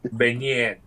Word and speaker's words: beignet: is it baguette or is it beignet? Beignet. Beignet. Beignet. That's how that's pronounced.